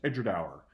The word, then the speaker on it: Edradour: means between the two rivers and it is pronounced Edgar tower so you know if you run a whisky